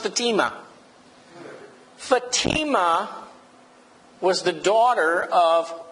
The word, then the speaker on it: Fatima: F you know that it's actually pronounced Fatima Fatima was the daughter